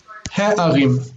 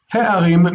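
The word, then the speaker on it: הֶעָרִים: So instead, they change it to he. He-arim. He-arim means the cities.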